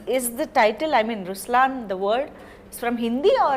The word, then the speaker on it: Ruslaan: so even in raslan when you say raslan also means the line it's the attitude of but the right pronunciation is Ruslan okay there is so